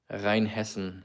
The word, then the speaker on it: Rheinhessen: Rheinhessen is how it's pronounced in Germany.